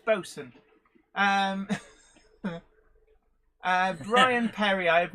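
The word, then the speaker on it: boatswain: yeah it's like bosun boson is not spelt b-o-s-u-n unless you're talking about a particular brand of boat um bosun is actually spelt boat swain yes but it's boson um brian perry i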